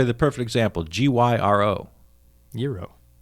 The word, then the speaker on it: gyro: Euro. Right. You can't say gyro. That's No. just saying it wrong. It is. That's not saying with an accent. That's saying it incorrectly.